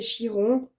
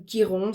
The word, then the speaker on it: Chiron: Donc pour moi, ce sentor c'est Chiron ou Kiron, ça dépend comment on le prononce.